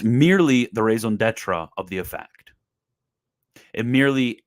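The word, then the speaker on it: raison d'être: is it it is the mere raison d'etra and yes I know that's not how the French pronounce it but it's become basically an English word so you guys can cry if you want to cry about my pronunciation skills but it's merely the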